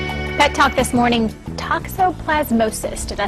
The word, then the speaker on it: toxoplasmosis: Pet talk this morning, Toxoplasmosis.